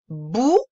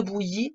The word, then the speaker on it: bouillie: Une bouillie. Il y a le ouï, le ouï. Et il y a le E muet de bouillie dont je t'avais parlé.